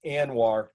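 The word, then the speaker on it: ANWR: heartbreaking um this is anwar this is the arctic national wildlife refuge you guys know how much i love my my acronyms so a n w r it's pronounced anwar this is in alaska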